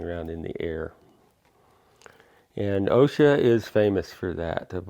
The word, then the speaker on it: osha: can sell it so OSHA is pronounced with an accent on the a Oh sh a with an accent so it's OSHA probably derives from one